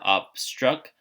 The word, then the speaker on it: obstruct: See how it's broken up into syllables here? Obstruct. So which one has the accent mark? Well, It's actually after the second syllable here.